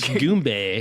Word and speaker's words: Goombay: I'm gonna Goomba. mispronounce. Goombay.